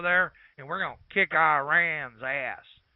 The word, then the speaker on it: Iran: gonna go over there and we're gonna kick Iran's ass it's pronounced Iran how do I know that I